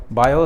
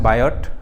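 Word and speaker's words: Biot: कर देते हैं मैगनेटिक बायो सावट ल नाम है बायोट टी साइलेंट होता है बायो सावट ल ठीक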